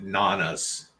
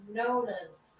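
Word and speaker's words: Nonnas: We watched Nana's. Nona's. Fuck! And I asked you right before I went live how to say it. Nona's.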